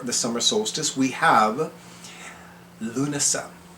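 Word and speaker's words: Lughnasadh: summer solstice we have luna luna is spelled capital l u g h n a s d a women luna i'll know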